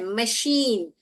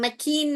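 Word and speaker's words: machine: हाँ, जो टेलर सीता है, मशीन, हम मकीन नहीं बोलते हैं, हम मशीन, मशीन बोलते हैं हम, मशीन।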